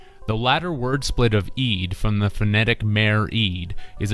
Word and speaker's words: eed: The latter word split of eed from the phonetic mare-eed is a Dutch word that means oath and is phonetically pronounced to sound like eat.